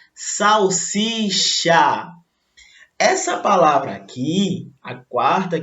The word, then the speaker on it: salsicha: Falam salsicha, quando na verdade, olha lá, escrita certinho, e a pronúncia salsicha.